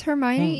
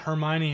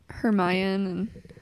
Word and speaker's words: Hermione: like next month yeah I remember trying to pronounce all those names my first started reading like her mayan valle de mer can't laugh I when my